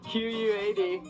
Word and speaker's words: KWAD: So it's spelled Q-W, no, just kidding. Q-U-A-D, K-W-A-D, Quad.